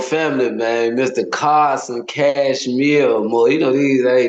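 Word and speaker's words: Kashmir: Cashmir like the sweater.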